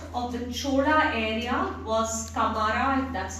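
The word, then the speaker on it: Camara: The major port of the Chola area was Kamara, that's how it's pronounced, C-A-M-A-R-A, and this is Puhar or Kaveri Pattinam.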